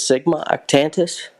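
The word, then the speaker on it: Sigma Octantis: uh the Southern Cross and I believe it's Sigma octantus yeah I think that's right you're you're that's correct on the pronunciation um cygnus art tentus I am looking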